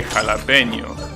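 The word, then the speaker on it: jalapeño: think that people from the usa actually say jalapeno that's how you pronounce it that's the right pronunciation so i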